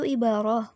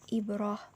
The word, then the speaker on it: ibarah: maaf sedikit meluluskan bakteri itu ibaroh bukan ibroh Hai nah tipe menambahkan